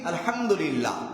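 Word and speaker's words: الحمد لله: কাট দাও তাকবর আল্লাহু আকবার দুই নাম্বার তাহমিদ আলহামদুলিল্লাহ তাহল লা ইলাহা ইল্লাল্লাহ তিনটা সহজ সংক্ষেপে বলা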